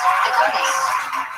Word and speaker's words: agave: correct pronunciation, Agave.